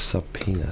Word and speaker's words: subpoena: nur die he pronounced it sub L to pronounce subpoena is this subpoena subpoena sorry people I'm very uneducated subpoena subpoena